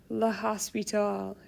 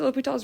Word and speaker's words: L'Hôpital: This is not pronounced LHospitals.